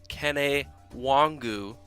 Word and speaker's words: Kene Nwangwu: Kene Nwangwu is the pronunciation, and Ryan, I have him at over or under 4.5 touches on offense this weekend.